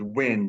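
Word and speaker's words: Nguyen: the last name is wind the the g is silent okay so spell that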